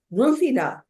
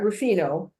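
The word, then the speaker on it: Rùfina: keti which is kti rufina not rufino which is a producer rufina and they actually on the labels put a little accent so you'll make sure and pronounce it that way this is um Northwest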